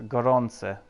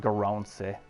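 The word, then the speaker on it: garçon: are guaranteed and kubec you pronounced it wrong it's a goronse not garancy garonsi goronse okay it's definitely not his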